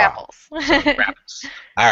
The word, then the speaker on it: Brapples: It's a short A sound, like apples with a bra. Rapples.